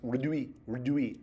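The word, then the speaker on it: rdwy: So you're literally drawing 2 legs running, pronounced redui, R-D-W-Y.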